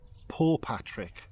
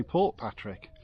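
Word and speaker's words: Portpatrick: in we've been told poor Patrick don't pronounce the T so don't tell us off if we occasionally say Port Patrick um yeah when we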